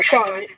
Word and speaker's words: Ashan: It's Ashan, right? That's how it is pronounced. Yeah, Ashan.